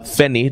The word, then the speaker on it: Feni: my name your full name is okay um fenny don't miss that and i pronounced that correctly yes you did wonderful okay